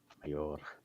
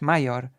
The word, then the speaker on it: Major: Mayor. I can't. I roll my R. Yeah, it's like it's how you say it in Polish, Major. It's like a army title in Poland, Major.